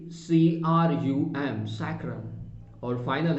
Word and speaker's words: sacrum: Fourth reason लिखिएगा सैक्रम, SACRUM, सैक्रम।